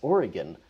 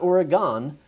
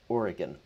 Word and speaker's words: Oregon: It's Oregon, not Oregon, Oregon. So if you want to say it with me, Oregon.